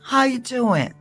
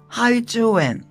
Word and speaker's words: how are you doing: How you doing? Okunuşuna dikkat edin. How are you doing diye yazılıyor fakat how are you doing diye okunmuyor. Arı hiç söylemiyorsun. How you doing? Sondaki G'yi hiç söylemiyorsun.